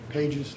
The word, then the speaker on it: Pages: how's your name pronounced Pages like in a book sir hey Jay okay